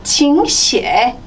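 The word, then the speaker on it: 请写: 그래서 들어오세요 칭찐 앉으세요 칭쪼 적으세요 칭시에 네, 삼성이 있어서 이성으로 발음했습니다. 칭시에 그리고 읽으세요 삼성 내려갔다 바로 이성으로 올라갈게요.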